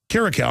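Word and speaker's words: Kiriakou: Karakow? Karakow, I'm pronouncing it right.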